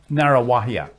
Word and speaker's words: Ngaruawahia: And a long story, but Narrawahia.